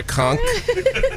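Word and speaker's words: conch: said it right you know I love yeah conk which is delicious I know it's one of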